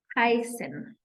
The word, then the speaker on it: heißen: to find out that we pronounce double S as S. Okay, so that Esset is not a B. Let me be the first one to tell you, if you've never heard it and you've been thinking it that is letter B, no, it is not. It is actually two S's that are represented by this Esset, okay? For example, zum Beispiel, we have the word heißen.